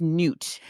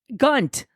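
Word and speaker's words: Gnut: So I listened to an audiobook and how'd they pronounce it? Gunt. And I'm like, no, it's G-N-U-T. It's Newt.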